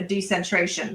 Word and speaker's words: decentration: So in effect really death is a decentration. It's a going back to zero. Is that the proper way to say it, Jim? Yes, it is re-giving body to creator.